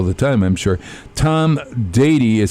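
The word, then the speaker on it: Deady: get this all the time I'm sure Tom dady is spelled dead II de AD why am i right there that's that's correct and a lot of people mispronounce it as Denny and a lot of people think it's actually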